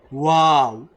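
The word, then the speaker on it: و: Wallahu, not va, not with your lips and teeth. No, that's va, not that va. Okay, wow, just when you like wow, right? Something like that.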